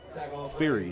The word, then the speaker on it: Fyra: Fury is how you say that.